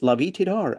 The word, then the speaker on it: Lavie Tidhar: A writer has agreed to talk to me, and it's Lavie Tidhar, as far as I know, that's how to pronounce it.